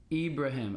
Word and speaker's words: Ibrahim: ibraim e ibraim him yo this is me Ibrahim I didn't realize my name was in Ibraham